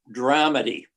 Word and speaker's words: dramedy: Perhaps the play is best described by the postmodern term dramedy, with a bit more emphasis, I would say, on the first syllable.